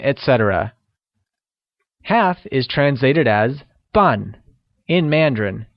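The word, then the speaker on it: 半: etc half is translated as fun in Mandarin which is pronounced using the falling tone great now let's see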